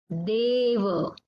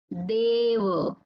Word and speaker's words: deva: So here you can observe the pronunciation of A is long. It is a bit stretched.